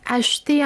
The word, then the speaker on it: acheter: Aquí observemos, yo pronuncio de esta manera que es acheter. ¿Por qué? Porque la E queda en medio del verbo en infinitivo, es una E muy débil, muy tenue.